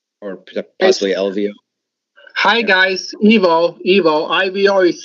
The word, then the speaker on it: Ivo: Hi guys, Evo. IVO is spelled, but it is pronounced Evo because I'm Croatian, and everybody but English pronounced word I-E.